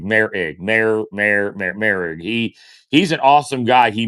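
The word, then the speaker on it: Moehrig: And Mayrig also, or excuse me, Merrig. We get his name wrong every time. Trayvon Merrig, the new safety, Mayor Ig, not Mayrig, Merrig.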